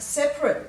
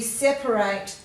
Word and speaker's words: separate: So it says the different pronunciations of separate. We have separate books for each subject. We separate the yolk from the egg white. So you can hear the difference there.